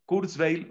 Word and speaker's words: Kurzweil: uno r la letra zeta wv y l kurzweil o kurzweil bueno ray kurzweil es el hombre que ha